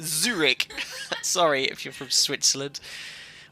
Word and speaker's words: Zurich: It's not Zurich with J, as Mariana keeps saying. Embarrassing. Zurich.